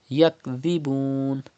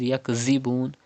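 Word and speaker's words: يَكْذِبُونَ: Yakdhibun. Pronounce dhal without whistle sound. Do not read yakzibun, but yakdhibun softly without whistle.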